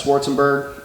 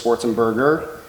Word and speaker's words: Schwarzenberg: a team practice, and a lot of people say my last name wrong. It's Schwarzenberg. Everybody says Schwarzenberger. And one day I was like, look, it's Berg, not Burger. Berg, Burger, see the difference?